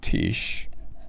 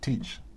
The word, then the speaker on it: Tish: to have parts like Tish. Who else is with us today? Louise is here. It's pronounced teach. Teach, okay, cool.